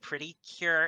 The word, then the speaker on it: Precure: Oh, since we're talking about favorite show movies and shows, I my personal favorite is Precure or it's kind of pronounced pretty cure in Japanese, but I love Precure.